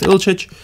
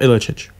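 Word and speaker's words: Ilić: I'm doing more Football Manager content, like I said, with Ilicic, whoa, I don't know where the itch came from at the end, but he is Ilic, not Ilicic.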